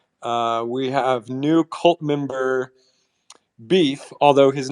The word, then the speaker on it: B33F: We have new cult member Beef, although his name is spelled B33F.